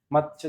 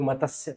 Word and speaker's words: मत्स्य: जिसको हम जानते हैं, मत्स्य जनपद, जिसको बहुत सारे लोग मत्स्य बोलते हैं, जो कि शुद्ध उच्चारण नहीं है। मत्स्य का मतलब होता है तैपूरा, तैपूरा नहीं है, तय आधा।